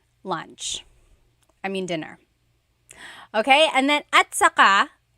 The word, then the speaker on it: at saka: Okay, and then at saka, technically it's spelled at saka, but when it's pronounced, remember the TS combination, it makes that ch sound.